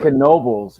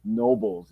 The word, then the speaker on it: Knoebels: it's funny that you said Knoebels right because if you were from on the other part of the world you just say Nobles it's exactly I went